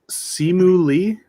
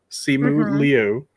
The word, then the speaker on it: Simu Liu: Can I just say that Simu Lee? I believe is how you say his name. Liu. Yeah. Liu. Simu Liu.